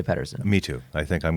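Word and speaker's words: Pettersson: a Patterson but Canada in Canada he hears people call him Peterson and he likes that so he wants to be called Peterson but his name's actually pronounced Patterson so what regardless of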